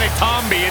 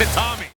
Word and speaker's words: Itami: It's not Itami, it's Itami.